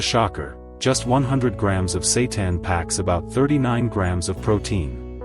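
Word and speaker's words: seitan: If you've never heard of it, Satan, pronounced Satan, is often called wheat meat.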